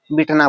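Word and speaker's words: beaten: बिटन, आई एम बिटन, ऐसे कई बार लोग प्रोनाउंस करते हैं बिटेन, ऐसे बोलते हैं, लेकिन इसका सही है बिटन, आई एम बिटन, उसके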